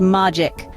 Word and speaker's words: magic: It has a short A sound and ends with a C that sounds like K. It's pronounced magic.